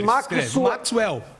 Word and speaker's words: Maxwell: A diferença está na sílaba tônica. É Maxwell.